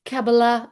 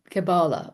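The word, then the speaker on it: Kabbalah: Well, it's Cababala or Cab Cabala. And I don't really think it matters.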